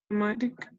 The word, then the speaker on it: automatic: pero no au, sino Automatic. automatic. Ajá, como con O, ¿sí? La A con la U suena como una sola cosa, como una O. Ajá, no como A, no como U, sino como O las dos.